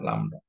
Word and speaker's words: lambda: Atau ini ya perumusannya, intensitas dari kedatangan itu dirumuskan dengan lambda.